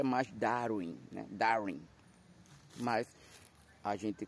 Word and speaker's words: Darwin: Jean Batista Lamarque e Charles Darwin, que a pronúncia é mais Darwin, né, Darwin, mas a gente continua chamando de Charles Darwin.